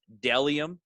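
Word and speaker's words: Bdelliom: It's pronounced Dellium, but there is a B at the beginning.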